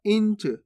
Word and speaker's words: इंच: इनच नहीं पढ़ना, इंच।